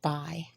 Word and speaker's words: buy: is the pronunciation and this word is buy like you buy something at the store so we don't say the U at all we don't hear it we just hear the B and then we hear the the I sound because remember when y